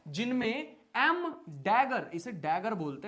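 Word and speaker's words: dagger: Spelling का तो पता नहीं, बट बोलते तो ऐसे ही है, डैगर।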